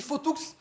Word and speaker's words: Fauthoux: Oui, mais c'est Sutat, dans le Fautoux. sud-ouest, on prononce Mazéas, Fautoux. D'ailleurs, on dit Fautoux. Tu peux le redire une nouvelle fois. Le X, ça se prononce, Freddy.